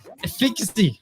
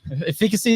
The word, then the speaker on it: efficacy: our minds the processes efficacy efficacy is how you say yeah and personality caught